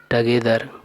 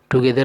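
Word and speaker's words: together: पहला ऑप्शन है टगेदर। टुगेदर नहीं बोलना है, सही उच्चारण होता है टगेदर।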